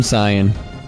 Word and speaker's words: Cyan: Oh, damn, Cyan. That's what I was torn between two, but then it sounds like I'm saying damn, son. If I say it too quick.